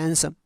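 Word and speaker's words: handsome: सी looks हैंडसम, सी looks हैंडसम, ये ड उच्चारण नहीं होता इसका, इसको पढ़ते हैं हैंडसम।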